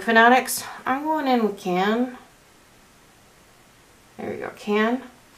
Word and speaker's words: Cannes: I'm going in with Cannes. There we go, Cannes. Like the Cannes Film Festival. That's how I have to remember how to pronounce it. Cannes Film Festival. Yeah. So Cannes.